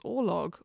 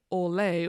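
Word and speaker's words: ørlög: consider to contribute to one's orlog, or orlay, or however you prefer to pronounce it.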